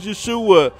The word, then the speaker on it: Yeshua: don't care about that Jesus name don't start with a J there was no J's invented at the time this real way to pronounce his name is Yeshua well no Sherlock thank you